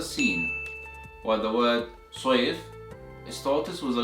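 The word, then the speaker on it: صيف: You see this word, which is pronounced as safe, safe, which means sword in Arabic, and the second word that is pronounced as soif, soif, which means summer in Arabic.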